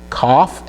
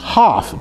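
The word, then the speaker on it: כף: That Kaf can also be pronounced Haf, depending on if it has the dogish in it, okay? So if the Kaf has a dogish in the middle, it's pronounced Haf, okay? If it's missing the dogish, it's pronounced Kaf.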